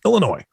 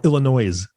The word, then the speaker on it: Illinois: Next state on the list, Illinois. Or Illinois, for those that are wanting to pronounce the S.